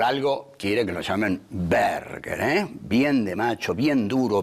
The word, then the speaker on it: Berger: joven de familia aristocrática, le explica que Berger se puede pronunciar Berger, pero que es francés. En cambio, Berger da duro, da alemán, le dice.